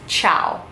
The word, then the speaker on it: ciao: bye hello or hi is of course chow chow is how you say hello or hi chow you can start off by saying ciao when you enter a